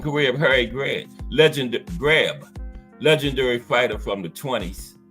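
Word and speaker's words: Greb: Harry grab you know you spell it GB I was saying greed but Bruce gar said it's grab so you know Bruce gas I'm GNA take Bruce gas's word for it the life from career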